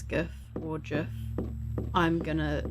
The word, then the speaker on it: GIF: don't care if you say it's gif or jeff i'm gonna say it the way i want to say it that's true i guess i said that the wrong way around yeah wait what jeff is the one that's correct right well drift